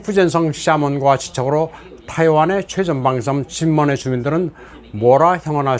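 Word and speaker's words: 金門: 진먼다오는 한국어 발음으로는 금문도입니다. 진먼은 킨먼이라고도 합니다. 영어로는 쾌모이라고 합니다.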